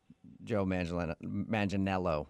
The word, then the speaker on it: Joe Manganiello: say he looks like Joe Manganiello, right? That's how you say it? Yeah. You got it. You nailed it.